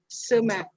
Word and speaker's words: Tseme: Sema.